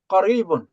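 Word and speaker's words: قريب: کا تلفظ تھوڑا سا، یہ کاف جو ہوتی ہے نا 2 نقطوں والی، اسے موٹا کر کے پڑھتے ہیں. قریبن.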